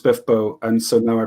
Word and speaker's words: SPFBO: um i'm justin lee anderson um i i pronounced it spf bo until i met laura hughes and she told me it was pronounced spiffbo and so now i pronounce it smith book